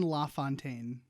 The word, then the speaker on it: LaFontaine: It's Don LaFontaine.